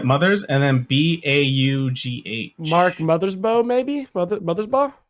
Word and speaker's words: Mothersbaugh: Mark Mothersbaugh, maybe? Mothersbaugh? That sounds like Mother's Bow. Yeah, BAUGH, I think is normally pronounced bow.